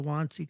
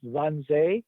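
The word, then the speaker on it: Wannsee: movie with with the kevin brown about the wantzee conference it is the most riveting two hours you must watch it i i did i didn't see that i've been to it's pronounced in terms as one zay and i i was there i was there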